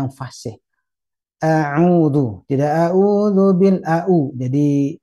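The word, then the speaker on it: أعوذ: Kemudian sahabat Nur Hasanah, mulai dari ta'awud itu harus terbiasa dengan pengucapan yang fasih. A'udhu, tidak a'udhu bil a'u.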